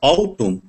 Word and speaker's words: autumn: Silent N. Silent N. N is not pronounced following M at the end of the word. Okay. Autumn.